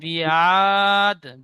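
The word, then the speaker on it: بعاد: রব্বুকা বিআদ, বি টান হবে না, রব্বু বিয়াদ। আইনটি টান হবে, রব্বুকা বিয়াদ।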